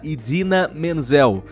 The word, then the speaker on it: Idina Menzel: Porque ele foi lá e falou que eles iam falar agora sobre uma canção da Idina Menzel. E, por sinal, essa é a maneira correta que se pronuncia o nome dela.